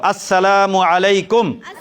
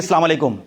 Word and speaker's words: আসসালামু আলাইকুম: শুদ্ধ উচ্চারণে সালাম দিব স্পষ্ট শুদ্ধ উচ্চারণে কি দিব আসসালামু আলাইকুম নাকি সালামু আলাইকুম আসসালামু আলাইকুম বল আসসালামু